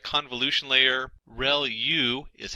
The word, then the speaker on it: ReLU: ReLU is how that is pronounced.